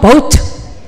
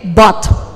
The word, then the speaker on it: bought: Saya sering dengar orang ngomong boat. Sama ini bingung-bingung ya. Padahal ini bacanya hanya satu, B-O sama T, bought. I bought it yesterday. Bought. Kalau ini boat. Boat. Kalau perahu boat. Yang itu bought. Oke. Bought and boat. Saya beli perahu, I bought a boat.